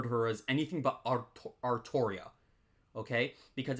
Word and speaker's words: Artoria: fake Grand order with Altria we in the community we refuse uh most of us refuse to refer to her as anything but artoria okay because in Japanese it's pronounced arutoria uh but apparently what